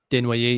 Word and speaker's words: Desnoyers: They're bringing how do you pronounce it? Desnoyers Desnoyers, yeah.